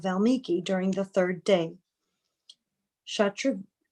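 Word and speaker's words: Shatrughna: After passing 2 nights on the way, Shatruguna reached the ashram of Valmiki during the 3rd day. Shatrugna, oh gosh, I've been saying it wrong, reached the ashram of Valmiki during the 3rd day. Shatrugna explained to Valmiki how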